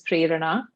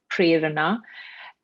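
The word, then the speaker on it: Prerana: inspiration and it's so the sanskrit pronunciation is prayerana and and then so the hindi pronunciation is prana and then um and then there are lots of other kind of pronunciations that that come up and uh some i think end up sounding like a dangerous fish that i um you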